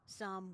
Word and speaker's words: Psalm: yeah know it's PS the p is silent like in most words where the p is at the beginning followed by another like consonant please say a prayer